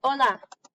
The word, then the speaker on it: hola: And then we have the H, and it is silent. The H doesn't make any sound. So the word hola, you guys all know hola from Dora. You don't see the H, okay?